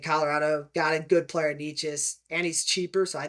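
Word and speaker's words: Nečas: I think Colorado also getting Drury and Necas, however you pronounce his name. It's Necas. I do know that.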